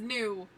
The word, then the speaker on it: Gnu: Or actually, no, he says new, N-U, but it's spelt with a G.